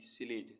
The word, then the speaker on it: sledge: SLEDGE स्लेज, स्लेज means बर्फ की गाड़ी।